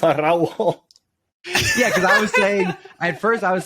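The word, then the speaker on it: Araújo: Like, for people out there, you roll your R's when there are two R's together. Like carro, ferrocarril, Or if you're just Araujo.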